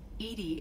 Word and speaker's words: EDI: Edie is the phonetic pronunciation of E-D-I.